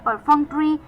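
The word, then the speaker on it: perfunctory: पी ई आर एफ यू एन सी टी ओ आर वाई परफंक्ट्री परफक्ट्री का मतलब यह एक एडजेक्टिव है और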